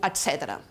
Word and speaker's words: etc.: L'ha pronunciada amb S sorda. En registres informals, en canvi, etc. se sol dir amb S sonora, etc.